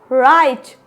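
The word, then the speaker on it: write: पहले डब्लू आ जाए तो क्या पढ़ेंगे रंग राइट rap rapper रिंकल rest तो यहां पे क्या है डब्लू साइलेंट लेटर है आई होप यहां तक आप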